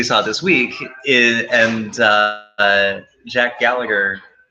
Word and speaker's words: Gallagher: So, but that can lead to some entertaining things, as we saw this week, and Jack Gallagher. I think it's Gallagher, but it's spelled with there's an H in there.